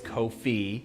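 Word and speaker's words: Ko-fi: i really appreciate you i'm sorry not kofi it's kofi i was reminded here today on stream make it just spell it with two e's if you're gonna put an i in it looks like wi-fi all right anyways that's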